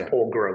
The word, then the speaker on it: Porgera: delays to reopening the Porgera mine there. Porgera, it's pronounced Porgera with a hard G.